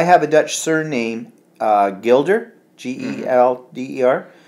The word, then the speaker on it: Gelder: a Dutch surname, Gilder, Gelder, like the coin. Oh, Gilder. Oh yeah, which should be pronounced Hilder, H-E-L-D. Yeah, Hilder. What? What? Yeah. Like, yeah, Dutch always sound like they're hacking up a loogie when they are.